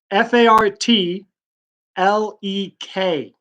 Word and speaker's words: fartlek: could spell it yeah I can do that fa RT l EK sar t le k to pronounce fartlek so yeah it sounds like fartlek